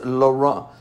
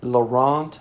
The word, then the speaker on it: Laurent: let's see so I'm good news really it's Laura it's Laurent got to zero that's the American Way of